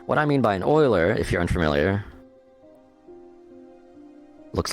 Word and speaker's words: Euler: quaternion um now what I mean by an Oiler if you're unfamiliar looks like Euler but it's actually pronounced Euler is a value like say 45